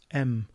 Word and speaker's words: em: mention this before but it gets its name from a capital m so you pronounce this m because it's the size of the capital M for the font and I've got it